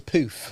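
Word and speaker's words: pouf: It's a poof. How do you How do you pronounce it? Poof. P O U F.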